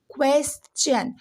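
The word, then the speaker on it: question: अभी तक आप जानते होंगे कि TION से सन बनता है, लेकिन जैसे यहाँ पे TION के पहले S लग गया तो ये हो गया चन।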